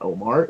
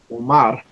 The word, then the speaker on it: Omar: It's not Omar. It's Omar.